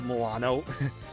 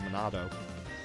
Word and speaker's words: Monado: Like, he uses the Milano. As my circle of friends have this thing where they pronounce his sword wrong, the Monado.